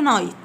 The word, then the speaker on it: night: e r y night n i g h t والg h في كلمة night حروف صامتة silent تكتب ولا تنطق.